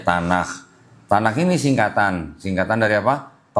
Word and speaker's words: Tanakh: Ini tulisannya begini, Tanakh, T-A-N-C-H, T-A-N-A-C-H. Bacanya Tanakh.